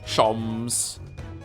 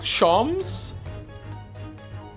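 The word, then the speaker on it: Sholmes: Shoms is pronounced the same as JHS. Shoms. Herlock. Shoms.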